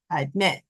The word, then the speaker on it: admit: have 2 syllables, but our stress is in this syllable, the end. So the stress is at the end of the word in the second syllable, admit, like that.